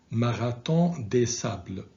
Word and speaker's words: Marathon des Sables: They are Continental Divide, 6633 Ultra, and please pay attention to the pronunciation of this marathon because it's French, and in French it is pronounced Marathon des Sables, okay, which means Marathon of the Sand.